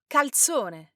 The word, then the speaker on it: calzone: calzone, Now this is a typical Italian folded pizza, but make sure you pronounce the L, otherwise it sounds like you're saying something completely different.